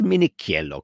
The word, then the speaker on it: Minichello: And I was saying Minichello the other day, and I looked at it, I said, that's Minichello, because CH is K, not Ch.